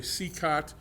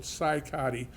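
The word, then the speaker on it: Cicotte: and there's always a debate on how you pronounce his name some people say see khat but I found a newspaper clip from that era and it was CY Cattle Co TV so psychotic is the correct pronunciation of his last name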